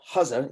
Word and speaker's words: Hussey: This is Windsor, Maine, where Harlan Hussey, pronounced his name Hussa, he was a German